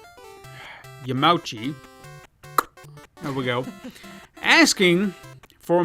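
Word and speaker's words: Yamauchi: reached out to his father-in-law Nintendo president Hiroshi yum yamachi there we go asking for a more accessible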